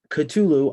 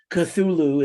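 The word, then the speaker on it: Cthulhu: the final track on the album proper is katulu i know it's pronounced you know thulu or kachulu or kukukuchulu cthulu is the actual pronunciation wow lovecraft but he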